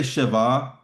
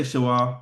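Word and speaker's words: שְׁוָא: I would say Shabbah just because we kind of learned the W sound as a V sound. Uh, but if you want to say shawah, that's okay. I'm not gonna count you wrong for it.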